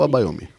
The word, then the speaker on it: Abayomi: Você é presidenta da Comissão Especial da Verdade sobre Escravidão Negra na OAB Pernambuco, cofundadora da Abaiomi, é Abaiomi ou Abaiomi? Abaiomi mesmo, exatamente essa pronúncia.